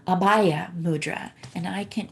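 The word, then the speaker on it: abhaya: put it in um it's a little harder to pronounce because you put you the b forces the h so it's apaya and um this is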